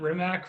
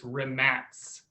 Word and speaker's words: Rimac: i thought it was re mac is it re max i think it's rimek remax it's another rematch so we've all called it rimac forever right because it's the way it looks